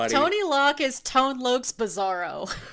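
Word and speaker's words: Tone Lōc: Thank you to Tony Lock. No, it's Tone Lok.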